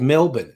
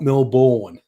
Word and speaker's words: Melbourne: But one of them then threw in Melbourne cuz it's called Melbourne, not Melbourne. I thought, okay, that was a fun left field thing.